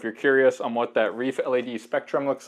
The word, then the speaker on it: ReefLED: This is a Reef Le or Reef LED, but they pronounce it reefled.